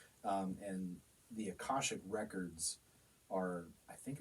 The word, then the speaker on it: Akashic: other band is uh it's called We're called akashic there we go kind of an odd name